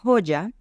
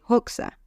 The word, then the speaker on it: Hoxha: se llama ember hoxa en albanés su nombre se pronunciaría ember Hoya pero se escribe hoxa h o xha y por eso le